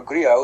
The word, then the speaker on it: Grillo: Werewolves, starring Frank Grillo, or Grillo if you want to go with the Italian pronunciation, who you know as